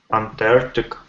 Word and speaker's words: Antarctic: beginning and end yeah the word end not not your aunt that's aunt know your aunt the first see you soon yeah it's an insect Antarctic so that's what I use aunt and then our tick Miguel any problems with